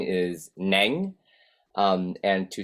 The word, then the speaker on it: Neng: example my name is neng and to say it properly you have to say it in how you say do re me so in the me